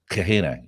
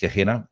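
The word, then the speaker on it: Gehenna: that became to be called kahena I think it's pronounced kahena described as a cursed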